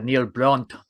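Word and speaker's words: Neil Brand: for South Africa uh so Neil Brunt as they keep calling him to give the proper South African pronunciation Mr kaon yo thank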